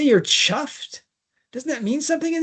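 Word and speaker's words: chough: So this is the bird chuff is spelt like it ought to be a cough, but it's Oh, it's pronounced chuff.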